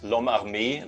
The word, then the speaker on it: L'Homme Armé: Yeah, so the proper name, or the original name, is L'Homme Armé. That's French for the armed man.